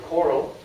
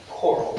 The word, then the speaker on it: CORAL: I'm very excited to be here, and Elaine already got it plugged in for CORAL. That's how we were pronouncing it. CORAL. But you can pronounce it any way you want to.